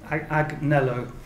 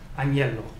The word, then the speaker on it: agnello: a digraph, GN, and if you try to just map N to N in a context-independent way, your system is going to produce agnello, which is incorrect. Okay, that's pronounced agnello. It means lamb.